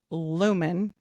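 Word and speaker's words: Luman: When Joseph was young and he was very impressionable, a transient person calling himself layman, pronounced lumen, like light bearer, Walters, it was for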